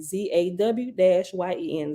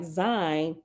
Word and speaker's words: Zayin: The Nazarene word Zayin is pronounced a bit differently than the Hebrew letter Zayin. Zayin is pronounced Zayin, Zaw-Yen, Zayin, rhyming with Sawhin. The letter Zayin is pronounced more like Zine, Zine, rhyming with line.